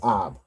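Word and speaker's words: אב: A a and a ba joined together.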